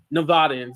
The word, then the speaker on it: Nevadans: Nevadans, that's how you say it, monthly across 12 counties,